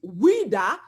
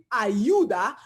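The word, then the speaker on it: Ouidah: In French it's Wida, en français c'est Wida, in Portuguese it's Ayuda, en portugais c'est Ayuda, okay?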